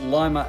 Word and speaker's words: Lima: By the way, Limer is pronounced Limer, as in the bean.